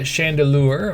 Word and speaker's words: Chandelure: Anyway, Mega Scrafty, Mega Chandelure, or Lear. It's spelled lure, but it's Chandelier. Stupid Chandelier.